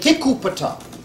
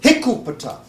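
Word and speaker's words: Hikuptah: became the theocratic capital, they didn't pronounce it Hikupata. So they pronounced it, He became A, Ku became Gu, Pata became Patos. So Hikupata became Egupatos.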